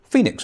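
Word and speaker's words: Fenix: He sold Noble Automotive and started a new company called Phoenix Automotive. Phoenix, not spelt like Phoenix from the Flames, it's spelled F-E-N-I-X, but potentially meaning the same thing.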